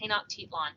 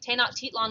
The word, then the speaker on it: Tenochtitlan: it included um this city tenochtitlan that is pronounced tenochtitlan tanakh titlon was the capital of the aztec empire this